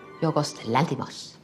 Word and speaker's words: Yorgos Lanthimos: How do you pronounce it? Yorgos Lanthimos.